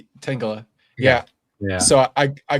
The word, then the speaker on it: Tangela: No, I It's cuz I legitimately kept forgetting like what the pronunciation was. Uh okay. Tangela Tangela Tangela It's Tangela, right? Tangela.